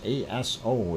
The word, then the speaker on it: Aso: Aso-san, and this is A-S-O is the way it is spelled. Don't mispronounce it. Aso.